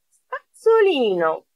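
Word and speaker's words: spazzolino: Πάμε στην οδοντόβουτσα, σπατσολίνο. Σπατσολίνο, διπλό Z, το προφέρω Z όπως πίτσα.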